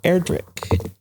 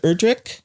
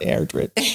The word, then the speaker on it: Erdrich: name is Hy e erri people can pronounce it UR but remember we're not rich it's not erri or erri right yeah and so